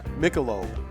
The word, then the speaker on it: Michelob: And it looks like we got a message on Facebook that she wants it pronounced Michelob, like the beer.